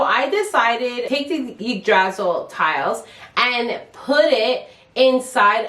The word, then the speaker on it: Yggdrasil: Actually, was saying Yggdrasil the whole time, and the homeowner's like, Yggdrasil. So now they say it like that.